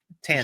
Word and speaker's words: Tannen: Tannen. Jean Tannen. I want to make sure I spell it right, which it will be spelled right here now.